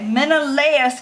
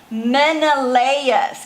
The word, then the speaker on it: Menelaus: Okay, Menelaus convinced his brother Agamemnon. Okay, so I want you guys to remember how to say these words. So I'm going to throw them up. Menelaus.